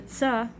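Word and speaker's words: צדי: So the tsa is like TZ together, tsa.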